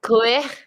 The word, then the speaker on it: cuir: Cuire.